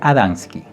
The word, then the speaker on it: Adamski: Los nombres que has mencionado son bien conocidos por nosotros, pero los has pronunciado mal. El primero se llama Adamski, el segundo Genovés y el tercero Michalek.